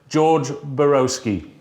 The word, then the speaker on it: Borowski: about i'd love to introduce you this morning george borowski hi everybody no did i pronounce that right absolutely i'm so pleased i've